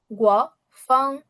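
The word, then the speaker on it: 刮风: গুয়া ফাং, গুয়া ফাং। কোনো টোন উঁচু নিচু না, গুয়া ফাং, গুয়া ফাং, গুয়া ফাং, গুয়া ফাং।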